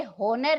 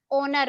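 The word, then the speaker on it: owner: words और न हो एन ओ यू आर इसे हुनर नहीं बोलते ओनर बोलते हैं ओके और लगाएंगे को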